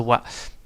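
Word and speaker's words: は: So now it's you say it as a ha, but you pronounce it as a wa.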